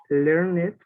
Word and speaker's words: learned: Tell me, Alexander, when do we need to pronounce the ED at the end? ¿Cuándo necesitamos pronunciar la ED al final? ¿Recuerda? Cuando ¿Recuerda tienen la T y la D. Very good. Cuando tienen la T y la D. ¿Aquí tienen la T o la D aquí antes de la ED? No. No. Entonces, ¿cómo sería la pronunciación? Learned. Learned, right? Learned.